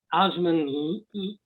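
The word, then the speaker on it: Åsmund: um a man by the name of uh osmond that's how his front name first name is uh pronounced he's was a norwegian doll maker and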